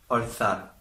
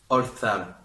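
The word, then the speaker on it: orzar: La traduction maintenant en espagnol, qui s'écrit Oscar, Roméo, Zulu, Alpha, Roméo, et qui se dit Olthal. Olthal.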